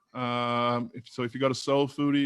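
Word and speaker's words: Soul Phoodie: So if you go to Soul Foodie, and that's spelled PHOODIE, there's a link called Restaurant Courses.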